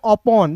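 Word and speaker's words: upon: देखिए दोस्त यहां पे यू है तो यू का उच्चारण यहां पे अ के रूप में कर रहे हैं। पी का उच्चारण प के रूप में एन का उच्चारण न के रूप में। याद रखिएगा जब भी आपको किसी भी वर्ड्स के बीच में ओ दिखेगा तो ओ का उच्चारण औ के रूप में करोगे।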